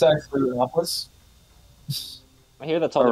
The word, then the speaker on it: Rathalos: It's actually Rathalos. I hear that's all the racist is. Official pronunciation, just like Boona Hob.